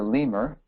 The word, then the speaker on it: lemur: Google Images it's a lemur rhymes with the bone in your leg femur native to Madagascar and